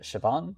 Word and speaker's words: Siobhan: Uh Maddock is is not a particularly difficult name, but for example, we'll have Sir Circa and Siobhan, which are not spelled in ways that you would assume.